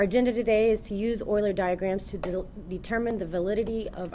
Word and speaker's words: Euler: to point out though it's not pronounced Euler like Ferris Bueller it's pronounced Euler okay so whenever I